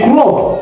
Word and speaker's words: chrome: In chrome. Yes. The H was the silent letter. Mm-hmm. Not C. Because yes. We say chrome.